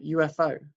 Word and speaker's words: UFO: one we'd say a UFO and even though there's a u at the start of that word we pronounce it with a Y which is a consonant sound which is why we